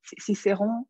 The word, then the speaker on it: Cicerón: No sé cómo se dice en castellano, quiqueroni, cicerón. Cicerón. Bueno, cicerón.